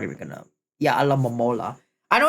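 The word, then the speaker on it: Alomomola: Alamola. I know it's pronounced alamola.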